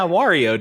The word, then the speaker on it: Wario: Wario? Am I saying it wrong? Wario? You're saying Wario. Is it Wario? Yeah, Wario, dude. Like Mario.